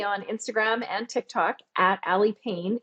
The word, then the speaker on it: Aly Pain: If you are a social media fan, you can find me on Instagram and TikTok at Aly Pain. It's ALYPAIN. Yes, it is spelled like ouch.